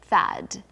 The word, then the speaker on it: THAAD: THAAD. Now this is an acronym, THAAD, and usually we pronounce acronyms as the word they spell if we can. THAAD.